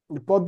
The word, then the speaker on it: পদ্ম: পদ্ম আছে দেখো, পদ্ম থাকলে এখানে যে মানে যে বর্ণের সাথে থাকবে ওই বর্ণটি কিন্তু দ্বিতীয় উচ্চারিত হবে। দ এর সাথে যুক্ত আছে যার কারণে এখানে দ দ্বিতীয় উচ্চারিত হয়েছে।